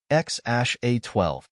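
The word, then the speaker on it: X Æ A-12: His relationship with Grimes deepened, and in 2020, they welcomed their first child together, a son named XAEA12, pronounced X-A12.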